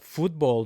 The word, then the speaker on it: fútbol: F U accent on the U TB O L.